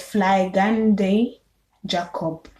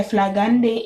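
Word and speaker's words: Flygande Jakob: that's what i said okay so then there's fly gandhi jacob hey this is what it looks like okay flagandi is spelled f l y g a n d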